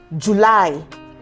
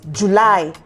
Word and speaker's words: July: have um the month July it's July and not July uh-huh that's also wrong